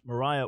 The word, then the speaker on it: Maria: I bring that up because there was a fiery preacher named Maria Woodworth Etter. Some would say her name is pronounced Mariah Woodworth Etter.